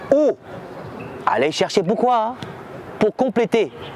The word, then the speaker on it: eau: E-A-U, ça se prononce O.